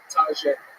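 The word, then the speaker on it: Taija: Taja. Taja. T-A-I-J-A. Everybody mispronounces that, right?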